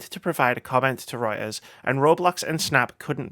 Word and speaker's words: Reuters: as reported by by Wright Reuters that's how you pronounce him as reported by writers the lawsuit alleges the